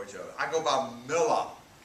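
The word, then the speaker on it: Miller: other i go by mila it's spelled m-i-l-l-e-r but since i'm from the south it's pronounced m-i-l-l-a-h voila and john does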